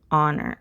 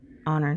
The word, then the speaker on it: honor: good work right so again we have an h it's an honor on honor to meet you so this is not